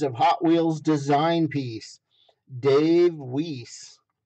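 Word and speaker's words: Weise: hot wheels design piece dave wiese where is it weiss it's w-e-i-s-e so it depends on the pronunciation of course uh but there you go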